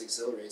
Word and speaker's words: Xhilerate: and i said hey how does exhilarate sound but also you spell it x-h-i-l-e-r-a-t-e but also when it